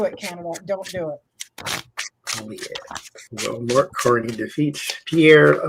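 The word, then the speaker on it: Poilievre: Polyev. That's how you say it. Well, that sounds like a disease. Polyev disease. Polyev, like polio, but Polio. Fancier.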